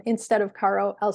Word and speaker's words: carro: word car in Spanish, carro. I would say it is caro. It's not pronounced caro. It's like caro with a rolling R.